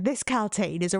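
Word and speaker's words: Kaltain: To me, and my probably dyslexic brain, Galtane read to me for 8 books, over like 3,000 pages worth of paper, that it was Caitlin, not Galtane.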